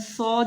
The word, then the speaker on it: ص: But Seen is a light letter and Sod is a heavy letter. Sod is a heavy letter. It is pronounced with more emphasis, but Seen is pronounced lightly.